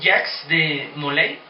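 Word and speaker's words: Jacques de Molay: El último gran maestre fue Jax de Moley, así se pronuncia que me parece, el gran último gran maestre que era el mero mero de los caballeros templarios.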